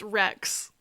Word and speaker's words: RX: His name was just RX. Pronounced Rex.